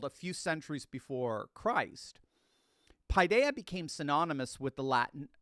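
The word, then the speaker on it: paideia: lived out and that's the ancient Greek term pidea it's spelled p a i de I a pidea it actually literally means child so we use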